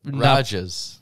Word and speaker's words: Rages: It's Rajas. Rajas? Rages. Ragesh? No, Rages? Rages. No, it's spelled as the word rages, but it has an accent over the A. Rajas.